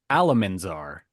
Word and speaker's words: Alamar: presents making money moves with B Callis Alamar check on Camus Alamar alamander it's okay Oliver because I said it wrong it was actually Alamar Alamar I think the last